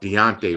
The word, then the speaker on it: Daunte: i got his name i said it wrong i had it in my head but deontay right right i thought it was dante my father um you